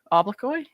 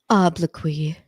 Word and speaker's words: obloquy: this oy o okay it's trying to tell me how to pronounce this and that just made me more confused what is it public whatever man strong public criticism or verbal abuse obloquy I was super close all right all right